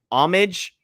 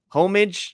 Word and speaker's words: homage: Instagram contest up with homage homage I don't know how it's it's like one of the hardest words to pronounce the silent h um but they make